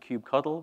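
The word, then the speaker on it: kubectl: dockor command line um Cube CTL is like the command line tool for cuetes um people say call it they pronounce it Cube coddle which is kind of nice and cute so a cube coddle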